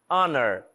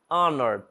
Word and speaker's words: honor: Our honor honor também não estou pronunciando o H.